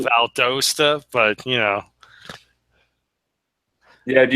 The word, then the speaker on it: Valdosta: I'm in valasta okay it's valasta that's how they pronounce it around here I call Valdosta but you know yeah